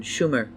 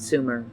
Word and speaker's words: Sumer: of mispronouncing the name it should have been schumer not sumer sumer was not a